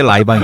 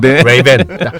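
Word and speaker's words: Ray-Ban: 그런 페이턴트 갖고 있는 라방은 이제 쌍팔년도 발음이고네 사우에 때 라이방 이었죠 네네 저 영어도 할 줄 알아요 레이벤 저 발음 되는 남자인데 편하게 라이방 했다고 저렇게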